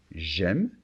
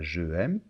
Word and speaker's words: j'aime: Donc, attention, le verbe commence par une voyelle, donc il y a la liaison et l'élision. J'aime et pas je aime.